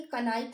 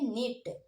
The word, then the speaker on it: knit: इसे हम पढ़ेंगे कनाइट नहीं पढ़ेंगे, अब हम इसे पढ़ेंगे नेट। इसमें भी के साइलेंट है, इसमें भी के साइलेंट है, ओके।